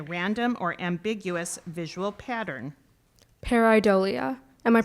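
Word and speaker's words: pareidolia: Your your word is paridolia. Um can you repeat the word paridolia?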